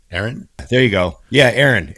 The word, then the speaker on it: Eiren: So, And Ron, you're going to have to say his name cuz I don't actually know how to spell say E I R E N. Aaron.